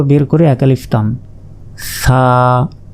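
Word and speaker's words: ث: জিহবা বের করে এক আলিফ টান, সা সা, জিহবা আগেই বের করতে হবে, এরপর উচ্চারণ করতে হবে।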